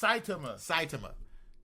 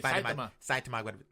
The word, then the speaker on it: Saitama: It's Saitama. Saitama guy by Tama. Say Saitama.